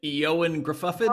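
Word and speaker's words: Ioan Gruffudd: Fantastic, Eoin Gruffudd. Oh, I believe that's the correct pronunciation.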